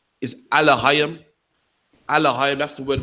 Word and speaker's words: Elohim: Yeah, man, the Elohim, you know what I mean? That's how you pronounce it in Lashwan Kodash.